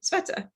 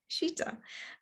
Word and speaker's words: Sweta: know and um and i was always pronouncing it sveta right and she was like no she's like thank you but it's shita and i'm probably i'm